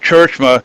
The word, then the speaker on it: Tjeerdsma: It's Tjeerdsma, pronounced Churchma.